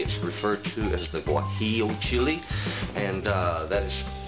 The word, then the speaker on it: guajillo: bright red chili is referred to as the guajillo chili and that is spelled GU AJ I ll o it is pronounced what he'll and these you will find commonly in any